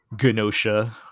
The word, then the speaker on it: Gnosia: Let's move on and talk about Gnosia. We're saying the hard G still. That's how they say it.